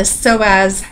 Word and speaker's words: psoas: next we have the psoas major which is a word that begins with a silent p um origin is the